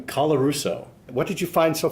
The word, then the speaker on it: Colarusso: We're here talking to John Wells about his article on McMaster Professor John, how do you pronounce his last name? Colarusso.